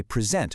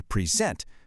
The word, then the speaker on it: present: If I say present with the stress on the first part, that's a gift, right? But if I switch it and say present, now it's a verb.